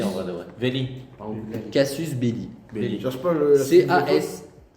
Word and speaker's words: casus belli: Casus belli.